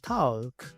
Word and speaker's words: talk: Muchos pronuncian esta palabra talk, pero aquí la L es muda.